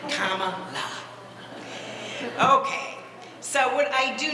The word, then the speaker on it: Kamala: So they had the hat made to help people pronounce it right. Kamala.